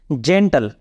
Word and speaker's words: gentle: जेंटल, GENTLE, जेंटल। यहाँ पे जी के बाद ई है, इसलिए जी का उच्चारण ज हो रहा है।